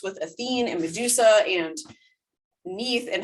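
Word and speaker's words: Neith: thinking about the goddess neath from libya who was also later an egyptian goddess um i'm sorry she's correcting me in my head so nate she wants her name to be pronounced as nate um so nate she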